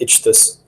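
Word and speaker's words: ichthus: i c h t h u s that's itch this and uh I have a hard enough time people pronounce but I'm gonna stick with it because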